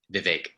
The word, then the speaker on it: Vivek: It's Vivek with an A sound. With an A. Say it again for me. Vivek. Vivek. Yep. The way I get people to remember it is it's Vivek. It rhymes with heartache, like the one you